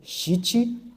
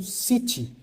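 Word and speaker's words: shichi: shiti hat, né, eh, o correto é shit, né? E eh no Brasil há em alguns lugares onde essa pronúncia é feita como cit e essa palavra não existe, né? Ela não existe porque a sílaba si não existe.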